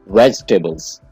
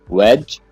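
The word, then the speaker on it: vegetables: इसकी सही प्रोनाउंसिएशन है वेजिटेबल्स। वेजिटेबल्स। इसके आप दो पार्ट कर लें, वेज और टेबल। वेजिटेबल, आपने वेजी नहीं कहना है, वेजिटेबल।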